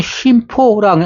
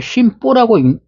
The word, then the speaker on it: 심포: 그래서 우리는 심포라고 아니고 심보라고 읽습니다.